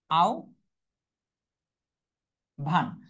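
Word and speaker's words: আহ্বান: যেমন আহবান। এটার উচ্চারণ কি হবে? আও ভান আর হ ব এর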